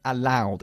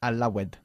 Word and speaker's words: allowed: El pasado de allow se pronuncia allowed y bajo ninguna circunstancia allowed, ¿ok?